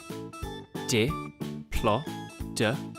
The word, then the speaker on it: Diplodocus: Diplodocus.